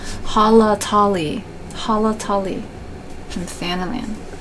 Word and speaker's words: Halatali: this dungeon I usually say Holly tally but there's actually more A's in there than eyes so I mispronounced it all the time Hala Tali Hala Tali from the